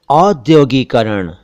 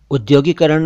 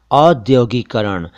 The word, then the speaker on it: औद्योगीकरण: उद्योग शब्द से बना औद्योगीकरण, उद्योगीकरण नहीं होता, औद्योगीकरण।